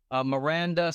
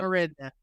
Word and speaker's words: Marinda: Okay, so our very first guest is Miranda. Did I say that correctly, Miranda? Marinda.